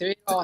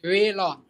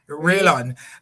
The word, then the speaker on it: Railon: So, it's Rayon. Tell us. I'm sorry. It's Railon. Railon.